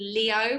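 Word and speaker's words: Lío: There's a really cool place called Leo, which is spelled Lio, Okay.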